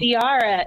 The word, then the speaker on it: Diarra: first three episodes of diara in Detroit and the thing is is that I love Tiara I was saying it right then I yeah you are it's like Tiara but with a d you as a writer